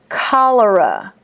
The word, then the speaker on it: cholera: But most oftentimes, in medical words, the CH is pronounced as a K. Cholesterol, cholera, cholemia, cachexia.